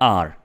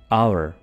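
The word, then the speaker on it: our: इसको नॉर्मली लोग बोलते हैं आर, जो कि बिल्कुल गलत प्रोनाउंसिएशन है, ठीक है। आपने इसको क्या बोलना है? आवर, आवर।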